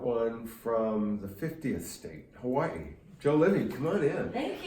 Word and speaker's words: Hawaii: You are the first Hawaiian. Yes. Did I say it right? Yes. Because everybody says Hawaii. It's Hawaii, actually.